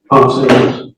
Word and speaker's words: Ponce: And Officer Ponce, is that how you pronounce his name, Ponce? Ponce.